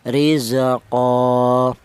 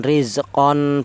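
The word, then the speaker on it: رِزْقًا: Jadi cara bacanya rizqo bukan rizqon bukan tapi rizqo.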